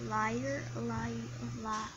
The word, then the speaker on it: Lior: Lior is it pronounced liar it's liar. It's like you're saying liar because it's liar.